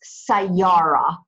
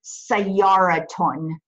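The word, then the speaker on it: سيارة: want to say the word for car it's say Yara say Yara okay so when you're pronouncing it involved you hear an ass sound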